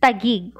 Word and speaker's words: Taguig: reach Taguig in 1571, found Tagagiik difficult to pronounce and could only pronounce the word sounding like Tagi-ig. So many mispronouncements later, Tagi-ig was shortened to the present day Taguig.